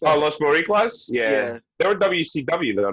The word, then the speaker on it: Los Boricuas: Los Boricuas. That's how you pronounce Oh, Los Boricuas?